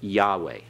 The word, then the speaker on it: Yahweh: title Yahweh all right you pronounce it Yahweh as you read it okay Tom Yahweh yeah